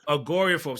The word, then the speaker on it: agoraphobia: Agoraphobia.